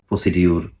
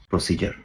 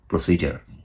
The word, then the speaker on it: procedure: নেই এক্সিস্ট উচ্চারণটা হবে প্রসিজার আমার সাথে সাথে 10 বার বলুন প্রসিজার প্রসিজার উচ্চারণটা জ এর মত হবে এর কোন উচ্চারণ হবে